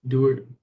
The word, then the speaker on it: Duhart: for my poem was Adolf Dart that's how you pronounced his last name um he was born